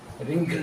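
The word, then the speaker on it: wrinkle: आर ओ एन रंग double R रय double silent है रिंकल double R के लिए रिंकल हो गया ये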